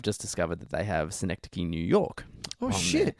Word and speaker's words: Synecdoche: Synecdoche. Synecdoche.